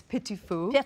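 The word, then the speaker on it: petit four: So pedophores are a lifelong obsession. Well, the direct translation, it's a French word. I horribly mispronounce it as pedophore. It's petit fou, right? Petit fou.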